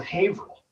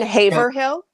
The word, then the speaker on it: Haverhill: Town names possible place in Haverhill yeah you mean Haverhill she pronounces that Haverhill and my wife you